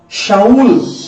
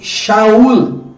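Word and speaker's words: שאול: Na verdade, a palavra Saulo, ela pronuncia no original como Shaul. No original, irmãos, pronuncia-se Shaul.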